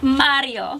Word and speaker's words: Mario: say over time for Mario you gotta roll your tongue I heard you're good